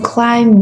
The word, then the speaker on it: climb: So for climb, B is a silent letter.